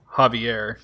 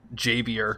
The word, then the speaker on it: Javier: yeah but at least every pronunciation that I've heard of it is Javier not JB or whatever that guy said